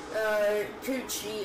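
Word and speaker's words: Cucci: Okay, so apparently this is brand on Cybertron, called, Coochie. It's spelt by C-U-C-C-I, and, yeah, there's, like, this, one of its most popular things is, basically this thing.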